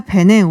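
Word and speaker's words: Bénin: 아, 그래서 전 베닌이라고 사실은 들었어요. 베냉. 네, 베냉이라고 이제 이 프랑스 나라의 이제 푼족이라고 네. 그 언어로는 조금 더 발음이 베냉에 베냉에 가깝더라고요.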